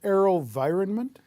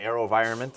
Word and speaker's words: AeroVironment: First one is, and I'm going to try and pronounce this, AeroVironment. Yeah, AeroVironment.